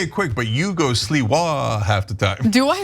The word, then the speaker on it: Sliwa: No, it's Sliwa. Sliwa. But you just say it quick, but you go Sliwa half the time.